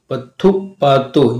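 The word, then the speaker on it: பத்துப்பாட்டு: पत्थु पत्थु पातु पत्थु पातु, यानी ये तमिल वर्ड है, इसके लिए थोड़ा सा उच्चारण में पत्थु पातु।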